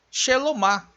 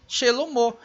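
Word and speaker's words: שלמה: E agora o nome Shelomo, o mesmo Re com o som de O. Eu não posso dizer aqui Shelom, que é o nome do rei Salomão, e nem Shelomá, e sim Shelomo.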